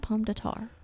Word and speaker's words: Pomme de Terre: Pomme de Terre.